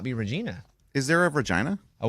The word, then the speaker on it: Regina: In Canada, we are in a town, in a city that's called Regina. And so and their sign says rhymes with fun because everybody calls it Regina, Funny. but it's Regina.